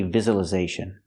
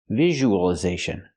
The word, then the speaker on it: visualization: We don't say visualization. We say visualization. So it's not the z sound like zebra, it's the j sound like usual, visual.